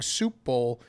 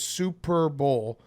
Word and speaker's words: Super Bowl: the way he said can you please stop saying soup bowl it's two syllables Super Bowl you you like your